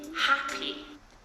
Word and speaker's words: happy: Is I just want to be happy. I just want to be happy. So what the problem of the first sentence, right? The second sentence. Stress in the 2-syllable word happy is on the first syllable.